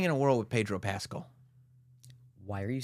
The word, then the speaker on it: Pascal: We're living in a world with Pedro Pascal. Why are you saying Pascal?